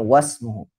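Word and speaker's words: وَاسْمُهُ: itu Il riwayat wasmuhu ini termasuk Hamzah wasal ya Ismun itu Hamzah wasal maka dibacanya wasmuhu namanya nama ilmu ini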